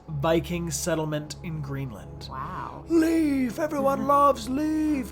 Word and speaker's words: Leif: whopping 500 years yo everybody say leaf leaf leaf leaf when anybody out